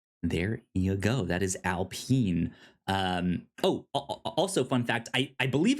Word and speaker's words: Alpine: And it is pronounced Alpine, not Alpine.